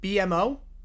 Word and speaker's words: BMO: Why they pronounce it BMO? Because it's 3 letters and they're B, M, and O.